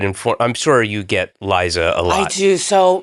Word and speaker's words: Liza: sort of like whatever, but and so it's Liza, Yeah. but it's spelled Liza.